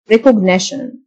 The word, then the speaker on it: recognition: تعرف أو تمييز recognition T-I-O-N تنطق شن recognition يمكن تمييزه recognizable يعيد